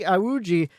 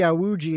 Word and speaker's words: Iwuji: a team owner jesse yawuji am i saying that name wrong no yes you are it's jessie you were close close it was close i put the wrong